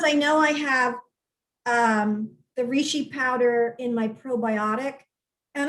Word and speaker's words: reishi: So you mentioned that you put some of the, I don't know how to say it, reishi, how do you say it?